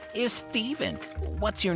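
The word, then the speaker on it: Ptheven: No, it's pronounced Steven, and it's spelled P-T-H-E-V-E-N.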